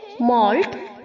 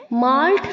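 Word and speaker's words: malt: है मल्ट मल्ट mould यहां पर जो बच्चों एम के आगे ए है उसे हमें ओ की तरह प्रोनाउंस करना है ठीक है माल्ट नहीं बोलेंगे एम के आगे ए है तो कहीं आप इसे माल्ट प्रोनाउंस करें माल्ट नहीं होगा मल्ट मल्ट ओके एम के आगे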